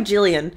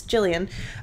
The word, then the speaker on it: Gillian: by making the film I'm gonna call her Jillian it could be Gilliam as a hard G I know a Gillian yeah soft G but I'm gonna assume it's Gillian she hoped to remove